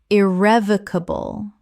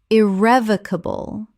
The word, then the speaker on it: irrevocable: Irrevocable. Correct pronunciation. Irrevocable. 5 syllables with the stress on the second.